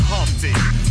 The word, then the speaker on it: Humpty: My name is Humpty, pronounced with the umpty.